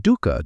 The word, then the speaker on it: dukkha: The Pali word he used, the word at the center of everything he taught, is dukkha, Say it like this: Dukkha. 2 syllables, the second one soft.